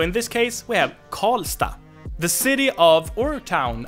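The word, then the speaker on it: Karlstad: Swedish but in most city names you would pronounce it as stop so in this case we have call stop the city of or town I mean Sweden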